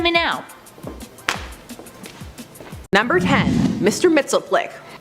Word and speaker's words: Mxyzptlk: Mxyzptlk. Mxyzptlk?